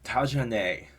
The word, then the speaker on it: Tajanae: So this is by a band called Tajane. That is how it's pronounced.